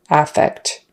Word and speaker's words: affect: look at that but the noun is with the stress on the first syllable affect contrast that with effect